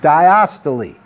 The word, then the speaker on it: diastole: the heart's chamber contracts that's systole when the heart chamber relaxes that's diastole and yes you pronounce the ease at the end so if you were